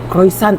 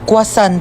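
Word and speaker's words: croissant: Croisant daw. Croisant. Ah quasant po.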